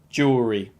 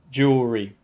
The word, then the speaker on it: jewelry: in u.s english so the us spelling is actually closer to the pronunciation jewelry jewelry i wasn't going to